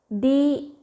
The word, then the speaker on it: Dhyana: The pronunciation and the spelling is. Okay. Dhyana, D-H-Y-A-N-A, Dhyana or Dhyana call meditation is quite the